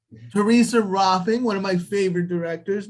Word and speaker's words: Rohlfing: It's Rohlfing. Theresa Rohlfing, one of my favorite directors.